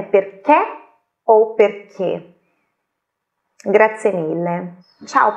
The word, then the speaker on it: perché: No caso do perché e outras poucas palavras que têm o accento acuto, a pronúncia é chiusa.